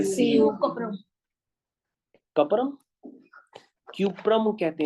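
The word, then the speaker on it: Cuprum: कपरम, क्यूप्रम कहते हैं इसको, क्यूप्रम इसका सही नाम होता है बच्चों, क्यूप्रम नाम होता है इसको। हाँ, कभी भी आप कपरम या कपड़ा अपना ना करिए।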